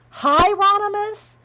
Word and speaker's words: Hieronymus: Hieronymus? Okay. Everybody's correcting me phonetically.